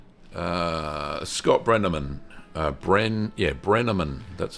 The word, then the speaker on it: Brenneman: The next photos are from Scott, and Scott says, Scott Brenneman, Brenneman, that's how you say it.